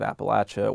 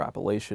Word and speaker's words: Appalachia: had some connection to the land of Appalachia or Appalachia, depending on where you're from, how you say it, that you really love that land, you love the people who live there.